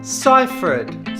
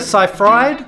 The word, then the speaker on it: Seyfried: is Amanda Seyfried Amanda ciphered so it's not Amanda Seyfried it's not Amanda Seyfried it's Amanda ciphered the next one is